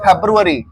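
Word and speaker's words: February: के बोलो फरवरी फरी लेकिन इंग्लिश में कहते हैं फेब्रुअरी फेब अरी स्पेलिंग देख लो आप प्रोनाउंस वैसा ही करो स्पेलिंग वैसा ही होगा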